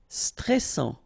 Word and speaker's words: stressant: Stressant. Final T not pronounced.